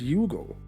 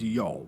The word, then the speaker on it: Youghal: I know, you're probably thinking that I mispronounced the name. I also kept calling this place Youghal until someone someday explained to me that the correct way to pronounce it is Youghal.